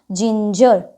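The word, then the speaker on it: ginger: ज से करेंगे तो जी के बाद हमारा लेटर क्या है आई तो आई है तो जी का उच्चारण हमारा क्या बन जाएगा ज क्या बन जाएगा ज तो जी आई एन जी ई आर क्या बन गया जिंजर ठीक है जिंजर मींस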